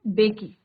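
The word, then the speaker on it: Mbeki: एम इसमें silent रहेगा बच्चों. बेकी. और इसके बाद किसका नंबर आया था?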